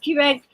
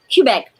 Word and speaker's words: Quebec: Quebec. I'm saying it right? Quebec.